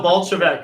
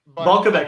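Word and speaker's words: Balkovec: Rachel Bolshevik, or however you say her name. Yep. First ever woman coaching. How do you say her last name? I want to say Balkovic. Balkovic. I wasn't that close.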